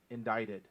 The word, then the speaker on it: indicted: pronounce it as indicted indicted the C is silent oh and now live